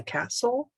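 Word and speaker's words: Kastl: course my name is castle that's spelled k-a-s-t-l no e on the end as a matter of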